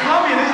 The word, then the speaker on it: Colombia: I heard, in Colombia, this is where they make all the cocaine, right? Yeah. You actually pronounce it. Well, hold on. You actually pronounce it Colombia.